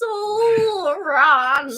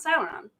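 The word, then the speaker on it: ソーラン: And the other one is Soran. Soran. You gotta say it like that too. Soran. Not Sauron. Not Sauron. Different guy.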